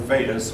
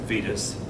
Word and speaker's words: Vedas: It's only been a year ago I started pronouncing that word Vedas when one of my students corrected me on it. I've always pronounced it Vedas.